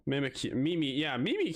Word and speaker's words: Mimikyu: Mimikyu. Mimikyu. Mimi. Yeah, Mimi Q. But it's spelled a different way than I was spelled it.